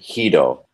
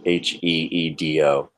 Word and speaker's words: Guido: Of course, if this is probably in Spanish-speaking countries, they actually pronounce it Hido. I know that because I know many people with that surname that pronounce it Hido, like Heedo. Spell it though. It's Guido, but they pronounce it Heedo.